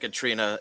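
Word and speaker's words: Caitriona: quite like katrina uh well it's not spelled like katrina but it's pronounced like katrina it's spelled like katriana and balf is b-a-l-f-e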